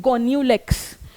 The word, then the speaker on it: Gonyaulax: क्या प्रोनाउंस करती हूं? गोन्यूलेक्स।